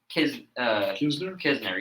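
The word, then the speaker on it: Knizner: How do you pronounce the name? Knizer. Nizer. Kisner, yeah.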